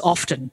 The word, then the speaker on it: often: I mean, you think of the lost T in often, which many people now pronounce as often.